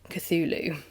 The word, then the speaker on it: Cthulhu: The U is like that of full and the first syible is not unlike clull in sound.